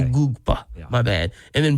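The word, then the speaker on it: Egbuka: I think that's how Try you that pronounce his again. name. Ugugba? There you go. Oh, you got All I right. forgot the There's K. a K. You forgot the K. Ugugba.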